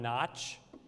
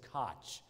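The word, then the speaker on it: Kotch: I've been pronouncing him as John Notch for months. And then last night I sent a text out about him, and he texted me back, LOL, my name is Koch, K-O-T-C-H.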